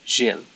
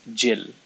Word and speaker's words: Gilles: It's more French sounding in Maltese. No, in my actual name is supposed to be Gilles. That's what is written in my certificate. But no one in Malta pronounces it properly because they're thick, I guess. So they pronounce it as Gilles instead.